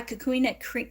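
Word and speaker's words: kukui: So if you're having zings on your scalp, you can try cocoon nut oil.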